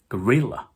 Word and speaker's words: gorilla: 예를 들어 강세가 두 번째 있는 바나나, 고릴라, 바닐라는 영어로 banana, gorilla, vanilla처럼 발음해줘야 영어 화자들이 쉽게 그 단어를 캐치해준다는 거죠.